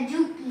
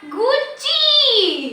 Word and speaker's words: Gucci: ये जूकी का। जूकी? ये देखो ना टैग GUCCI। अच्छा, गुच्ची। ओह हाँ, मुझे प्रोनाउंसिएशन में गलती लग गई थी।